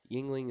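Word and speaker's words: Yuengling: Yingling Yingling oh yeah Yingling is neither spelled Ying no Ling the Ling is spelled correctly the Ying is spelled really strangely y e y u n g l i n g that's Ying Wing it's a little song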